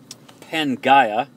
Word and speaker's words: Pangaea: that supercontinent supercontinent Pangea Penh gaya would be the proper pronunciation pan meaning all and